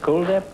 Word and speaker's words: Kuldhip: Is that the way you pronounce it? Kuldhip? Yes, it is like the word cool.